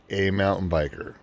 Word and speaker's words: aMTBer: Now, The name of my company is pronounced aMTBer.